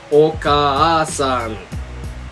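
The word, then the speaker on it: おかあさん: So that is spelled or written as o-ka-a-sa. Oka-san.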